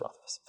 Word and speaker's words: Rothfuss: It's pronounced Rothfuss.